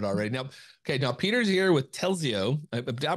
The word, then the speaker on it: Telzio: Now Peter's here with Telzio. Did I pronounce that correctly?